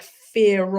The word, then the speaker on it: fear: W or R, but there's a silent R at the end of, like, fear of something. Fear has a silent R at the end, but if there's a vowel like of, then it gets pronounced.